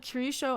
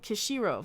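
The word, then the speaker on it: Kishiro: screen I'm Knight Yukito Curie show I'm saying the name wrong at Kushiro there you go this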